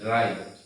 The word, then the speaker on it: write: প্রিয় শিক্ষার্থীবৃন্দ, আমরা প্রথমে এই জায়গাতে একটু লক্ষ্য করি, এই জায়গাতে লেখা আছে রাইট, কিন্তু প্রিয় শিক্ষার্থীবৃন্দ আমাদের রাইট বানানটা হচ্ছে WRITE, রাইট।